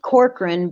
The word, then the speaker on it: Corcoran: pronounce your last name it's pronounced corcoran but it's spelled core